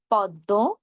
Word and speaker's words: পদ্ম: আবার বলছি, শব্দের শুরুতে, মাঝে, শেষে যেখানে মফলা যুক্ত হোক না কেন আমরা ময়ের উচ্চারণ করব না। তবে শব্দের মাঝে বা শেষে যদি ম যুক্ত হয় তাহলে যেই ধ্বনির সঙ্গে ম যুক্ত হয়েছে আমরা সেই ধ্বনির দ্বিত্ব করব। আর দুই ক্ষেত্রে আমরা কি নাকি স্বরে উচ্চারণ করব।